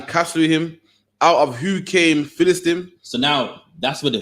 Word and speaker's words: Philistine: Meaning they were offspring of the Egyptians, and from one descendant came another, which came the Philistines, how did they pronounce it?